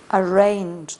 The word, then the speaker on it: arraigned: So now she Arraigned. The G is silent.